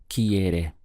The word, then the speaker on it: quiere: the word is quiere we have two main syllables here first of all key followed by area so the sound is quiere what's the verb to